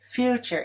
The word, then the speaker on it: future: Future is stressed on the first syllable.